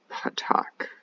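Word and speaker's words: patach: And then the last one is patak, which sounds like the word potato.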